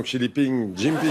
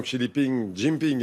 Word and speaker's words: Xi Jinping: On revient à la visite du président chinois dont le nom ne se prononce pas comme ça. Oui, en tout cas, cette visite du président Xi Jinping est importante à plus d'un titre.